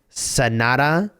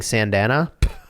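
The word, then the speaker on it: Sanada: Uh, and that is Sonata Yukimura. Um, who I probably still mispronounced, but I think I was saying Sandana.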